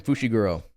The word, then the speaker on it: Fushiguro: That's That's how you say his name, Fushiguro.